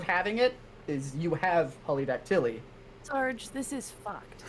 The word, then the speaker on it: polydactyly: reveal if you have polydactyly so I never did have an extra toe so that is false I said it wrong he just said polydactyl which is not the the thing it is polydactyly oh I've always said